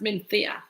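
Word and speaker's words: Mencía: Okay, it's Mencia, but it's pronounced Menthea by the Spanish, because CIA is a.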